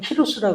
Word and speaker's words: 키루스: 그래서이 고레스왕이 이제 원래 발음 키루스라 그러는데이 사람이 537년에 이스라엘 귀한을 명령해요.